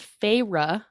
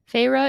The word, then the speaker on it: Feyre: of 19 year old feyre i believe is how you say it even though it's spelled like fairy pharah who lives in